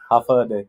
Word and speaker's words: Hafa Adai: How do you say it? Hafade. Have fun day.